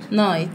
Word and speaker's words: night: القمر يظهر اسمه نايت نايت واحنا قلنا ايه الجي اتش مش بتتنطق لان جايه ورا الاي فنقول ايه نايت تمام نايت يبقى دي